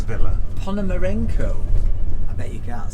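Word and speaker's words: Ponomarenko: past Paloma Beach on our way to Mr Pon Moreno's Villa pomaro I bet you can't spell that p o n o m a r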